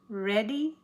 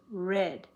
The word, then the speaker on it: read: I know to pronounce this red instead of read in this sentence because if it had been read, it would have had an S on it because it starts with he. He reads today. He read often or yesterday. So read is the past tense, and it's pronounced with the shorty.